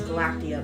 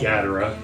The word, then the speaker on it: Gadara: the current situation with, I want to say her name is Galactia, but that is not her name. Gadara.